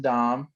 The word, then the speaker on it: Damm: it that's correct yeah i'm dom i play for rugby atlanta and mlr d-a-m-m commonly mispronounced it's how we used